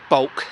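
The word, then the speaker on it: Bwlch: I took the road from Hay-on-Wye to Bulk. It's the place it looks on a map like it's spelt Wiltsh.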